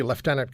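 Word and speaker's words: lieutenant: former United States Navy leftenant Commander I got to give you the Canadian pronunciation founder of the American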